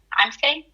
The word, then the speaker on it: Amcia: Angelica, did you say her name is pronounced Amcia? Amcia. Amcia.